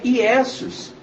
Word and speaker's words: Iesus: No latim a pronúncia é Iesus, que no significado significa isto é um porco, que era o sacrifício feito para Zeus.